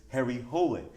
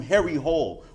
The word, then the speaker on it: Harry Hole: Norwegians talk know that his character's name is Harry Hole. That's how you're supposed to pronounce it, right? But every character in the movie calls him Harry Hole, which was really distracting for the audience I was in.